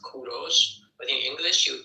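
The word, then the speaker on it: کوروش: But in Persian we call him Kuros. In Persian it is pronounced Kuros. But in English you call them call him Cyrus.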